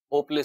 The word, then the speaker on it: اوپلے: آپلے بنائے جاتے تھے۔ اوپلے تلفظ ہوگا یا آپلے ہوگا؟ اوپلے سنا۔ اوپلے، تھیپڑیاں بھی کہتے